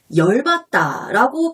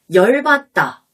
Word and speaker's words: 열받다: 조금 전에 배운 단어 열받다. 아, 열받아. 이 열바다를 발음 나는 대로 쓰면 열바다죠.